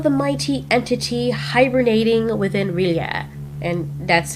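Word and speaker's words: R'lyeh: speaks of the mighty entity hibernating within Riia. And that's how you pronounce it.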